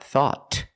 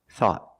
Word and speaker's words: thought: we found thought thought at the end the tongue goes up and makes a stop te not thought but thought thought thought I thought